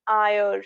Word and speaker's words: heir: Then he's an heir. So here also H is silent, heir to the throne.